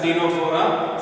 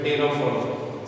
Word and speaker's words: Ctenophora: That is why after Coelenterate it has been written as Ctenophora. C is silent here. Ctenophora.